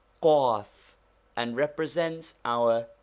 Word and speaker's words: ق: This guttural consonant is pronounced with a vowel by contracting the throat. Say kaf first naturally, then with a short a sound and contracted throat like the cawing of a crow.